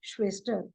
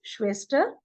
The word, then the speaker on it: Schwester: Then for sister, it is Schwester in German. So again, whenever at the beginning of the word SCH, whenever it comes, it is pronounced as sh. Okay, so that is clear.